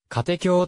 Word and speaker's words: 家庭教師: た全 42 巻タイトルの家庭教師は katekyo と読むのが正しい 4 区家庭教師の読みは誤り逆昭和 reborn 2016